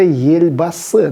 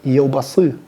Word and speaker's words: Елбасы: да, или вождь, это Ельбасы, да, и мы слышим, как некоторые люди неправильно говорят Елбасы, Елбасы, потому что ближайшая буква Е, она ее смягчает, и уже Ельбасы.